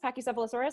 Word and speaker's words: Pachycephalosaurus: Bob and then I'm probably totally gonna incorrectly pronounce this but a Pachycephalosaurus Pachycephalosaurus that's right zach is that correct his next